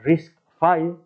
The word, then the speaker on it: RISC-V: Hoy en día se pronuncia RISC-V por ser la 5ª iteración de los diseñadores que hicieron el primer RISC en los años 80.